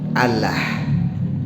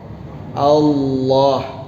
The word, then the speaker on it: Allah: Antum kalau manggil nama Allah harus fasih, ya. Allah. Jangan Allah. Ya. Jangan Allah. Ya Allah. Mana coba? Ya, jadi harus fasih. Pengucapan itu tidak boleh keliru, tidak boleh lahan, tidak boleh Allah, ya Allah, ya Allah musta'an. Jadi yang benar apa? Allah.